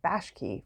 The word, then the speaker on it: Bakshi: who I've just realized I have been mispronouncing his last name is Bosch key for years left a huge dent